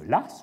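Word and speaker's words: Law: le français, eh bien, c'est un nom écossais, mais on l'écrit l'as. On le prononce l'as.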